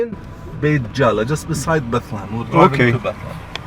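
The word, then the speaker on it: בית לחם: Bethlehem, this is the way the Hebrew language would pronounce Bethlehem, Bethlehem, and it means the house of bread, while in Arabic, Bethlehem means the house of meat.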